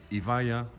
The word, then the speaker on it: Evija: avec, vous voyez là-bas, la Evija, il faut prononcer Evija, l'hypercar électrique, full électrique qui coûte 2 millions d'euros et qui développe 2000 chevaux.